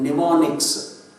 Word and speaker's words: mnemonics: Those abbreviations are called mnemonics. So you can see that in the red color. Mnemonics. Mnemonics means M is silent there.